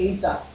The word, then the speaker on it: aether: not see called The Ether by the way the pronunciation of this is ether that AE is a very old-fashioned um lettering combination in both Greek and English and it is English